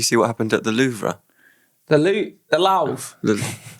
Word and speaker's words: Louvre: Did you see what happened at the Louvre?